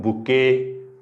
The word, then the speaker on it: bouquet: नाही ते बकेट वाचतील काही जण, बकेट नाही, बुके.